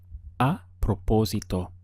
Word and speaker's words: a propósito: way in Spanish is a propósito notice that we have an accent over the oh and it's important that your stress folds there so we have pro-poor